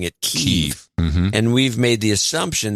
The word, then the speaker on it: Kyiv: But now it's like, no, it's Kyiv. We have a note from one of our producers that came in a few shows ago saying, hey, I live with a guy from Ukraine and he pronounced it Kiev, so it's got to be Kiev.